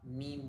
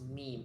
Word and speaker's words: meme: I even pronounced it me and then some of my friends they were saying like, "Oh my gosh, you are so like you're living under a rock. Like you're so outdated." And then I kind of agree as well because it was actually pronounced meme. It's not me.